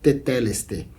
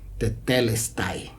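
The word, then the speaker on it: τετέλεσται: Então, nessa forma de pronúncia no grego koiné, essa palavra que nós estamos investigando aqui no texto áureo se pronuncia teteleste. No grego clássico, tetelestai.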